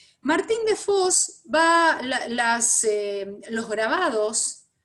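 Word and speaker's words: Vos: martín de voz de fos sería porque era flamenco martín con lo cual tendríamos que pronunciar la ve como efe martín de foxx martin de fos va a hacer los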